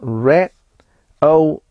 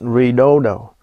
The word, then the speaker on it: Redodo: to be reviewing the red AIO yes it's pronounced Red O A lot of people calls it rodo it is a 12vt lithium iron phosphate 100